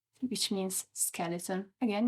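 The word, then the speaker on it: scheletro: the last one is skelet which means skeleton again you can see the C and H together are pronounced as a k so from skeleton to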